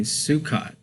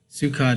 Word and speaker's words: Sukkot: October the 2nd today or tonight is actually sukot uh that's the right pronunciation on there uh some people pronounce it sukot and in a whole bunch of different stuff but sukot is the right pronunciation on there but tonight